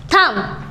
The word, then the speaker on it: thumb: अब इसकी प्रोनाउंसिएशन क्या होगी? पॉम। Very nice. ऐसे ही मैंने लिखा THUMB, थम।